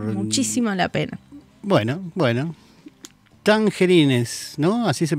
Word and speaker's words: Tangerines: vale vale por muchísimo la pena bueno bueno tangerines no así se pronuncia tangerin tangerin bien bueno una muy buena película para disfrutar